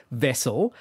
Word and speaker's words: Vessyl: actually be a thing it's called vessel spelled with a Y for literally no good reason and it's a cup